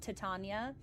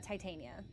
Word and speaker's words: Titania: some Shakespearean discussion as to whether it's actually pronounced Tatana. I think that's ridiculous. So, we're going to say uh Titania. And that's still amic. I just like the hard eye. Titania King.